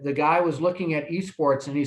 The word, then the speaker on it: esports: guy was looking at esports and he said so how do you pronounce that a sports or i said well no that's esports he said what's esports